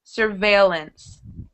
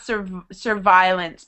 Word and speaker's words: surveillance: uh first of all it's pronounced surveillance surveillance not Sur survilance because that sounds like this like the word violence yes yes surveillance vience